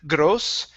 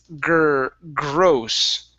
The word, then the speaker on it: gross: And the last one here is the GR. Instead of gross, it's gross. Gross.